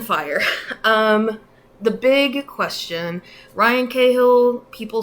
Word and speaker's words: Cahill: So I think Cahill, I think he pronounces his name Cahill, but, I'm American, so we're going to say Cahill.